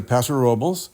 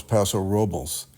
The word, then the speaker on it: Paso Robles: We're going to Paso Robles, Okay.